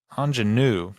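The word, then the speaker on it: Aunjanue: um I'm GNA mess this lady's name up Anan Ellis Taylor I think I said it right Anan anenu sorry I did mess it up anenu Ellis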